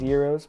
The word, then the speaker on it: gyros: for some greek food like gyros spelled like gyros i don't know why it's pronounced euros but i'm just reading the dang thing you also have the